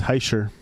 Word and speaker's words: Hischier: Benoit Test says Heischer or Hischer. How do you say his name? Nico So Hischier.